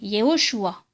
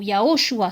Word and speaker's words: Yehoshua: Et d'ailleurs, nous avons confirmation dans le Matthieu hébreu du Shem Tov, où son nom en entier est donné, Yehoshua, ou Yahoshua, selon les prononciations, encore une fois.